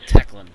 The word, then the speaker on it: Taklinn: I spelt it as tackling, like, in rugby. It's more like Teclin. Got Tackling, it. That takes me for a tackling. sniff. Teclin. Yeah, not tackling.